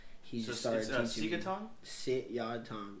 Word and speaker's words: Sit Yat Tong: Sit Yat Tong. Yeah, it's like 3 syllables.